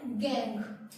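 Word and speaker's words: gangue: इसकी प्रोनाउंसिएशन है गैंग।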